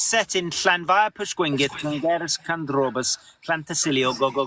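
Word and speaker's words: Llanfairpwllgwyngyll: Llanfair Pwllgwyngyll, Llangeres Candrobas, Llantysilio, go go go.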